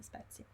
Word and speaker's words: spezie: Bill, spezie, Abida, spezie, Ann, spezie, sì, Alice, spezie. Sì, si scrive con la Z, è come grazie. It's the same sound we saw in grazie, spezie. It's S-P-E-Z-I-E. Spezie.